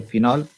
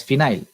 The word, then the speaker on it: phenol: we are using the Phenol, or we can call it as phenyl also, because it is wrongly pronounced in our settings. It is actually a phenol, but we pronounce it as phenyl, isn't it?